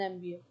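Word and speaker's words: MBA: शी इज एमबीए graduate an एमबीए graduate क्यों क्योंकि एम की आवाज आ रही है ना ए की आवाज आ रही है एन एमबीए आई saw dash tiger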